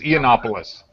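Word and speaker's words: Yiannopoulos: The first letter is silent. It's Ianopoulos. Yeah, it's like the dude is.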